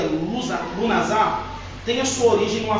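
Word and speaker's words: Lughnasadh: O nome Lugnash, ou que se pronuncia Lunazar, tem a sua origem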